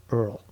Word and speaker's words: URL: under like this ridiculous Earl because uh sorry URL that's another thing I've done shows my age I pronounce URL Earl yeah that's okay I do that too too